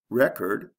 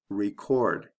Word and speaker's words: record: first syllable object object record record is there a sound change yes with the first one there's a short e and the second one there's a long e record record contrast contrast